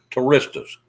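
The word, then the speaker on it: Turistas: Touristas. Yeah. Total Recall's got midgets in it. How do you spell Touristus? It's like tour, Ista. Tourista. Okay, Yep.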